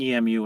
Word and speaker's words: EMU: Uh and thank you for saying EMU instead of uh just pronouncing it like the bird as I went to Eastern Michigan University. So, uh, I associate emu with, uh, with spelling it out, uh, instead of the bird.